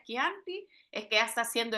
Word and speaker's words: Chianti: básico Cómo se pronuncia ya no me van a decir chanti o chanti eso ya no aplica hoy todos vamos a decir esto una en una clase de chanti Así que si todos lo pueden decir unísono cómo se pronuncia quianti es que ya está